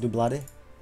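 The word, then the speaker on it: Doublade: It's actually pronounced Dublade.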